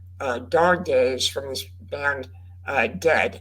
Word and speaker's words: Dehd: Days from this band Dead, and that's spelled Dehd.